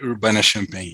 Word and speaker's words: Urbana-Champaign: Pronúncia, Emerson? Universidade de Illinois em Urbana-Champaign. Obrigado. University of Illinois at Urbana-Champaign.